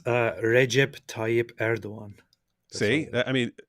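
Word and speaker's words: Erdoğan: It's Recep Tayyip Erdogan.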